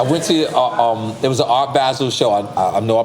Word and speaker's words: Art Basel: I went to, it was an Art Basel show. I know I pronounced Art Basel wrong.